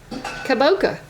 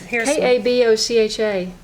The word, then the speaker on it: kabocha: Kaboka. What is that? Gosh, I always say it wrong. Here's Kabocha. It's not just a pumpkin?